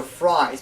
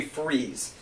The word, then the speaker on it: Fries: Because I don't know why, I think it's a fancy way that says Freeze, but for people who think his last name is Fries, it's actually Freeze.